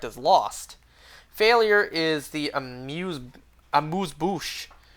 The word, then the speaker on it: amuse-bouche: Failure is the amuse-bouche. Do I pronounce it S there? Amuse-bouche, isn't? No, I think you do pronounce the S.